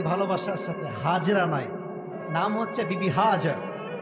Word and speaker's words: হাজার: হাজেরা নাই। নাম হচ্ছে বিবি হাজ। না আমি আপনার ভুল ধরা ভালোবাসার সাথে। এটা কোন অপমান নয়। আমরা বলি বিবি হাজেরা না উচ্চারণটা হচ্ছে বিবি হাজার আচ্ছা ইসমাইল আলাইহিস সালাম